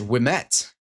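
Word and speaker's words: Ouimet: Wimet. Yeah. We is pronounced we.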